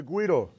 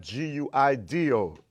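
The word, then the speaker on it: güiro: this is the guido gu i r o not GUI Doo as I hear many people mispronounce the name of this instrument specifically this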